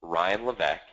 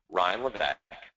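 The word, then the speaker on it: Levesque: so my name is Ryan Le yes it's a crazy French name the S is silent Ryan LEC and for many years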